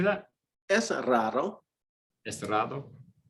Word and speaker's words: raro: Es raro. Es raro. Yeah, just like rare, raro.